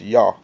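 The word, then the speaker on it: יה: And it tells you that that's pronounced yah or yah.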